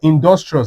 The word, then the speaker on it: industrious: Look at this one, industrious. Let's break it down. in- dos- trious Where is the stress? At the second to last, dos- D-O-S D-U-S So, you can see it.